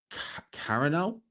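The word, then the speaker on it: Carano: Ronda Rousey versus Cararano is how you say her name.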